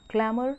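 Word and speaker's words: clamour: क्लैमर में जो है आर साइलेंट है, क्लैमर है ये, क्लैमर, और इट मीन्स शाउट लाउडली, तेजी से चीखना, तेज आवाज़ में चीखना।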